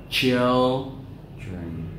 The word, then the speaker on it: children: Mình tập children, children, chill, e-o, e-o, chill, chill.